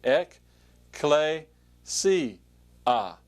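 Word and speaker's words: ἐκκλησία: does for you is give you a sort of way to pronounce it see Eck clay see ah XE ah and so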